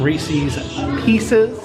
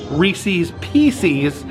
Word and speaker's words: Reese's Pieces: I know people have criticized me for saying Reese's Pieces, which I've probably been saying since I was a small child, but I will try to say it correctly. They are Reese's Pieces.